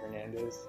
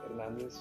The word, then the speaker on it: Fernandez: often but it is even in my head i think it was hernandez instead of fernandez just because i've heard people pronounce it that way i learned about my